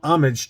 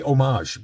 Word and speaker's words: homage: all all the wording everything is is an homage to the original Star Wars book from 1977 so I just love that cover I always I always want to say homage but it's actually homage that's how it's that's